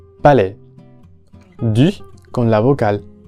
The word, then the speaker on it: Palais: En este caso tenemos la palabra palais, que no es nada difícil, solamente hay que recordar que termina con la vocal E abierta porque tenemos la combinación A y S. Palais.